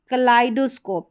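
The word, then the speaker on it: kaleidoscope: यह है कलाइडोस्कोप, क्या है? कलाइडोस्कोप, यहाँ पर आई करके उच्चारण हो रहा है ई आई का।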